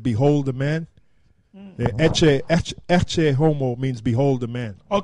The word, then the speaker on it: Ecce: Ecce, which is spelled E-C-C-E, Ecce.